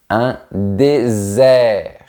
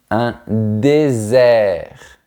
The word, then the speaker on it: désert: Attention à ne pas confondre les mots dessert et désert. Le premier est sucré, le deuxième est très sec. Voyons ça. Un dessert. Un dessert. Un désert. Un désert. On entend bien la différence entre les sons et z.